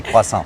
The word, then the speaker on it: croissant: In French we say croissant.